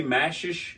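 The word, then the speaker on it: J Mascis: So Jay Mashish, is that how you say it?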